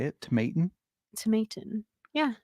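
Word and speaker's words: Tomatin: how you say it tomatan tomatan yeah I said it tomatan tomatan tomate it's the long a okay interesting Tom Toman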